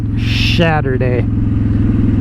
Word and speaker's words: Shadowday: You gotta kind of say it like Saturday, but yet Shadowday.